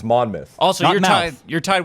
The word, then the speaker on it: Monmouth: Monmouth month oh myth it's not mouth noou it's mon myth also you're tied you're